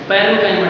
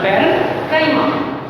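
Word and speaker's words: parenchyma: जैसे पेरेंट होता है ना, पेरेंट, उसमें टी हटा देना, पैरेन्काइमा, C-H-Y-M।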